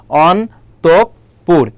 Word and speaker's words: অন্তঃপুর: তাহলে বিসর্গের পরে কোন বর্ণটা আছে দেখো। প আছে তাহলে প এখানে কয়বার হবে? দুইবার হবে।